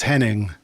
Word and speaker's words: Henning: funny and I think I pronounced his name wrong said Hennig is Henning yeah he's a greatest